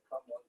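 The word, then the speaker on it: cảm ơn: It's like C-A-M-O-N. Come on.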